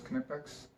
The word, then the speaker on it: Knipex: to pronounce Knipex, but I'm pretty sure in German the K is not silent, so I'm just going to pronounce it as Knipex.